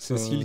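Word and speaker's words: CeCILL: Donc Cécile qui s'écrit C-E-C-I-2-L.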